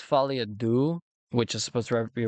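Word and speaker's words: Folie à Deux: So, it's Falia Du, which is supposed to be reference to second Joker movie, but I said Falia Dukes because I didn't know how to pronounce it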